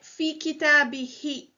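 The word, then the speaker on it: فِي كِتَابِهِ: So instead of saying who, for ease of pronunciation, we say fi kitabihi.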